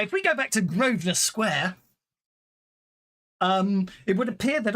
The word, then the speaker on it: Grosvenor: Yeah, it's Grosvenor.